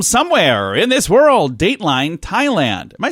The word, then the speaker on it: Thailand: in this world Dateline Thailand am I saying that right you don't pronounce the H right it's not fine land okay I didn't think so Tyler in Thailand police auctioned off a